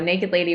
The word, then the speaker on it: NKD LDY: those that don't know it's it's spelled or stylized nkd ldy yes yes so naked lady without the vowels um well so I